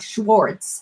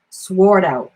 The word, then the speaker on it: Schwartz: So it's not Schwartz. It's sword out. Sword out. I'm from Massachusetts. We're Northerners. Do we pronounce our R's? No. So we need to take that R out of that name.